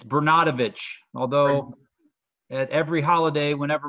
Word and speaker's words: Bernatovicz: pronounce your last name correctly how do you pronounce it it's Bru not a although at every holiday whenever my family gets